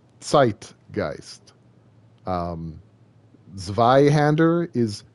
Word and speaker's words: zeitgeist: k's flipped also sometimes oh z's z's make a make a uh a t a t s noise so like zeitgeist is sight geist um zveyhander is sveyhander